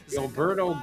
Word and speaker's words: Gilberto: In Brazil, the R is silent.